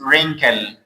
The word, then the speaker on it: wrinkle: W is what? Silent here. We don't pronounce it. Why? Because The letter W is before R.